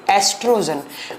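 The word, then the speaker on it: estrogen: एस्ट्रोजन, ओ से लिखा जाता है बट इसको प्रोनाउंस किया जाता है ए से, एस्ट्रोजन। और दूसरा होता है बच्चों प्रोजेस्टेरोन, प्रोजेस्टेरोन, ठीक है, एस्ट्रोजन एंड प्रोजेस्टेरोन।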